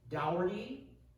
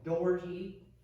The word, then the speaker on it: Daugherty: name and he said there are three ways you can say dougherty you could say doherty or you could use the irish pronunciation which is with the kind of sound so he said it